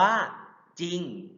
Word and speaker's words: จริง: ออก เสียง ควบ เช่น จริง อ่าน ว่า จริง เศร้า อ่าน ว่า เศร้า เรา จะ ไม่ ออก เสียง เรือ ครับ อ่า พระ สงฆ์